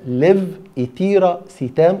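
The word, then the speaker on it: Levetiracetam: 2 لاموتريجين، 3 تو بيراميت، 4 ليف ايتيرا سيتام. تنطقها كده ليف ايتيرا سيتام على ثلاث مراحل.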